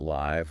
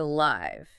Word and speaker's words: live: Wait, we pronounce it live like I feel alive, not live like I live in a house.